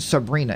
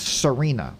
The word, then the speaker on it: Serena: Why do I keep saying Sabrina? It's Serena.